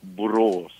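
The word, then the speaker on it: Borås: French word with a U or something like Burros what do you do in burrows for uh entertainment do you go out and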